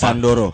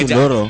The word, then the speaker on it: Sondoro: Sandoro. Oke. Sandoro. Kalau aslinya sebenarnya Sundoro kan? Aslinya Eja- Sundoro. Ejaan Nama Jawa.